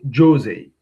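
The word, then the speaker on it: José: Uh Portuguese from Portugal is ju Jose. Yeah, like Mourinho. Jose Mourinho, the football coach.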